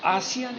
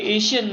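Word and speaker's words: ASEAN: और आसियान यानी actually एशियन नहीं कहना चाहिए, बहुत सारे इसको स्पेलिंग बोलते हैं एशियन, वहाँ आय नहीं है, इसको हम लोग आसियान बोलते हैं, बराबर।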